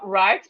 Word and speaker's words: write: So we have right, the W is silent.